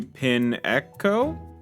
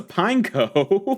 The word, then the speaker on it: Pineco: fun way to start going into pin Echo wait what what I pulled this card already why did I say it like that it's a pineco and we got an